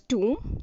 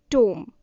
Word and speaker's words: tomb: This one is tomb, not tomb.